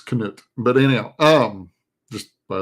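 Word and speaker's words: Knut: You pronounce the K in that, so it's Canoot.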